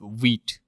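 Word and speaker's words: Vite: see more about wheat you can see how it's pronounced it's pronounced as wheat okay and uh you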